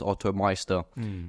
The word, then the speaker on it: OttoMeister: I've spelt it in so many wrong ways, but I just know it's pronounced OttoMeister.